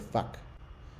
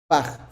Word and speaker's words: Fach: Fach. Thank you. Did I pronounce it correctly? No, you did not. It's Fach, but it doesn't matter. Fach, thank you.